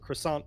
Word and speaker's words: croissant: like, oh, they pronounce croissant wrong because in the US, we include the T at the end.